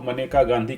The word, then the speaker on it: मनेका गांधी: हाँ बिल्कुल, इसको मनेका गांधी के नाम से ही प्रोनाउंस किया जाता है।